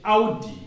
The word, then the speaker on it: Audi: out how how so when you see a car called a udi is audi audi don't say o we normally say audi in english but you say audi in german audi e